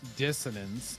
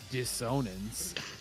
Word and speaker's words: dissonance: I mean, I knew dis dissonance as opposed to dishonance, which sounds like you're downing something, which actually completely changes the meaning of it.